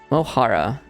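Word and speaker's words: mo chara: fear mosara moara okay the C is not pronounced at all okay moara my friend usually aara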